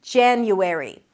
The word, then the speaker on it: January: The first month is January. January. You start with a J sound, J, then it's the A as in cat, ja, an N sound, and the Y.